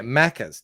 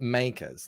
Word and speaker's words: Maccas: yeah maybe human yeah maccas no not makers like this let me spell it mackers m-a-c-c-a-s everyone calls it macca's like my four-year-old son